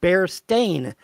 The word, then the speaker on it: Berenstain: spelled with an a it's spelled bare stain as in a stain on a carpet okay that's the way